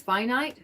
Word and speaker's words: finite: It's finite or finite. Finite is how you pronounce that word, as opposed to infinite.